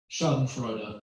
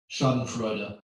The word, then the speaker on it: Schadenfreude: YouTube and found a click on how to pronounce it. Schadenfreude. Schadenfreude.